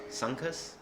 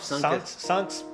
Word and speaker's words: Sunkus: Rest in peace, Sunks. Rest in peace. It's pronounced Sunks. Sunks. I don't know. Sunks. I always said Sunkus.